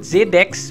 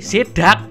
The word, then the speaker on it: Zeddax: Tapi ternyata orang bacanya, orang Indonesia ya, bacanya selalu menyebalkan, woi. Bukan nyebut Z-Dex, bukan, tapi Z-Dak. Kan jelek banget ya, Bang Z-Dak. Jelek banget, woi. Beda kan sama Z-Dex gitu kan. Z-Dak Gaming sama Z-Dex Gaming kan beda, bro.